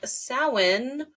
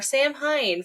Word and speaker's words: Samhain: ey section this episode we are talking about sin or SN or Sam Hine for those that are trying to pronounce it as it is spelled um I think this